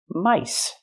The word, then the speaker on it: mice: And this word, mouse, you have one mouse or 1, 2, 3 mice. Don't say mouses, 2 mice, 3 mice, 4 mice. The pronunciation changes for the plural.